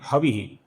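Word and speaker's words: हविः: और फिर अंतिम नाम है हवीह। अब यहां पर जिधर जिधर वसु शब्द है उधर सु ह्रस्व है। इ दीर्घ है। हवी का वि ह्रस्व है।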